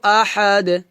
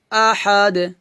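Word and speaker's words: أَحَد: দার হচ্ছে কলকলা হরফ তাই আমাদের এখানে কলকলা করতে হবে তো এভাবে উচ্চারণটা হবে কুলহু আল্লাহু আহাদ আহাদ আহাদ আমার সাথে বলেন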